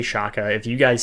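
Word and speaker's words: Xhekaj: Caden Gooley, Justin Barron, Arbor Shaka, I think is how you say it. I say it wrong all the time. I'm going to say Shaka.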